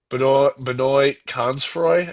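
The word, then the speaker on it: Benoît Cosnefroy: Consfroy, no, the teammate of Tade, Benoit Consfroy, I believe is how you say it.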